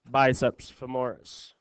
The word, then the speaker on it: biceps femoris: But since it's down in the thigh region, we call it biceps femoris. Like femur.